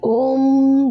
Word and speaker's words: ओम: दोस्तों, ओम हमें ऐसे बोलना है कि ओम ध्वनि गले से निकलकर पूरे शरीर में ध्वनि करते हुए मूलाधार चक्र तक ले जाना चाहिए। वह अंत में जाकर माँ का उच्चारण हमें सुनाई देता है। ओम से जो शुरू होता है वो अ आता है, लेकिन ई और म जो है वो अंदर ही अंदर गुंजायमान होता है।